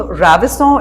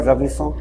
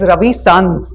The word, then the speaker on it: Ravison: Have you ever needed to, like Peugeot, help people pronounce the word Ravison? Oh yes, Okay. definitely. In fact, they think it's Ravi Sons. Yeah. like Ravi Chawla, so Ravi's Sons.